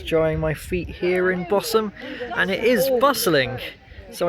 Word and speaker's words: Bosham: Now I wanted to call it Bosham, like how it's spelt, but I learnt from the train announcements this morning that the H is silent.